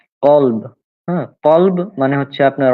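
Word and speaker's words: كلب: কালব, হ্যাঁ, এই যে কালব যদি দেন কাফ, কালব, কালব মানে হচ্ছে কুত্তা। তাহলে যদি আপনি কফের উপরে কা উচ্চারণ করিয়ে এভাবে বলেন, যদি কালব বলেন তাহলে সেটা হয়ে যাবে কুত্তা হয়ে যাবে। হ্যাঁ, কিন্তু মূলত সেটা হবে কলব।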